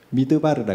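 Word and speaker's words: מדבר: 발음으로는 히브리어 발음으로는 미드바르라 그래요.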